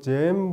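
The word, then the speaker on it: Zen: 우리는 선이라고 그러는데 중국 사람들은 차안이라고 그러고, 일본 사람들은 뭐라고 그러죠? 젠이라고 이야기합니다. 그래서 일반적으로 젠 부디즘 그러면 건데 그 일본식 발음이고, 근데 선을 이제 그 원음은 자나예요.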